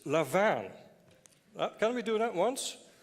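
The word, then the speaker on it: lavaan: should pronounce properly today it's not what Warren or whatever the Texan guys make of it it's levan can we do that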